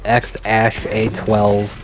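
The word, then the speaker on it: X Æ A-12: he knocked up somebody new boy's name is pronounced X Ash a12 or X for short then um with shivon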